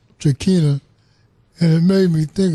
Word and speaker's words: Tranchina: Tranchina, you pronounced it Tranchina, and it made me